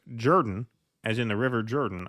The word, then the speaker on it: Jordan: Ellen Jimerson says, in case your reminiscence of Jimmy Carter, his chief of staff, Hamilton Jordan, comes up, his last name is pronounced Jordan, as in the River Jordan.